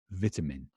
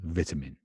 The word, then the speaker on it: vitamin: like vitamin vitamin vitamin I hope you noticed the pronunciation is quite different trying the British pronunciation and the American pronunciation vitamin we say vitamin baby sounds funny to you vitamin take your vitamins whereas an American would say something more like vitamin provide him in and